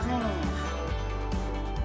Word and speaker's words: frères: As is silent, j'ai 3 frères.